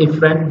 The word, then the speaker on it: efferent: एफरेंट और इफरेंट दोनों में फर्क ये है, ए और ई का फर्क है।